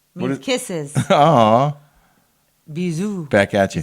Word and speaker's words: bisous: Aw, Bisous.